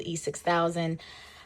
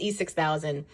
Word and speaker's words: E6000: All you need is some really good glue, E6000. I've been saying it wrong the entire video. I always say E600. It's E6000 or B7000.